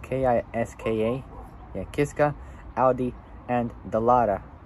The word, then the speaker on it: Kiska: The X-Bow road car was developed in collaboration with Kiska, which is spelled K-I-S-K-A, yeah, Kiska, Audi, and Dallara, which is spelled D-A-L-L-A-R-A.